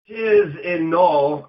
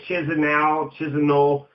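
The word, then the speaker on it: Chișinău: Chisinau, and I guess that's how you say it, Chisinau, during these parliamentary election protests, 2009 Moldovan parliamentary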